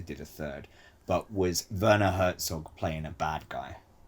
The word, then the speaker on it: Werner: Yes, I am, but it's pronounced Werner.